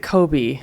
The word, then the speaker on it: Kobe: Yes, but we pronounce it Kobe in English. So people don't really get the connection right away.